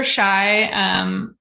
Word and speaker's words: Txai: No, it said River Txai.